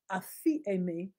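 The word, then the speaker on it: ἀφίημι: okay if you forgive yeah it's a me it's spelt a p h e scratch that a p h i e m i a fee a me and it means to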